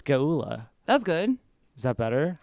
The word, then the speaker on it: Geulah: Geulah?